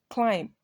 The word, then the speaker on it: climb: have womb thumb comb climb plumber bomb in all of these words are more the B is silent so you're going to